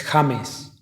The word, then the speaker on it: James: Es James. James. En Ledn sabemos lo que se siente cuando eres el mejor y aún así la gente pronuncia mal tu nombre.